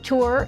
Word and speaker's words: Tours: France from Paris to tour is spelled t-o-u-r-s not t-o-u-r but it's pronounced which is a mid-sized